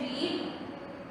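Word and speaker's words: read: Next है रीड, रीड को पढ़ेंगे रेड, रेड। अब यहाँ पे स्टूडेंट्स आपने ये देखना है कि स्पेलिंग वही है, रीड की ही स्पेलिंग है, R-E-A-D, R-E-A-D। लेकिन पढ़ते हुए फर्स्ट फॉर्म इसकी रीड, सेकंड और थर्ड रेड हो जाती है, रीड, रेड, रेड।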